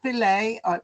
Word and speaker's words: Filae: Well, there is just one, I know of anyway, dedicated French family history society, not society website, which is filae. That's how you say it.